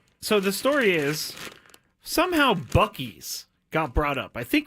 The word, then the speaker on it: Buc-ee's: It's pronounced Bussies? No, it's not. It's pronounced Buc-ee's.